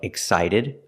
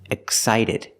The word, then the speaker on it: excited: When you see words like excited or expensive, the X is pronounced with x with no voice. There's no voice. X. Excited, expensive. The X makes this pronunciation when there's a consonant after the X. We see with excited, there's a C. That's a consonant, so it makes the X sound, excited. We see with expensive, there's